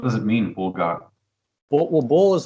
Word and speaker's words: Boul: bull, like like that bull, like the animal.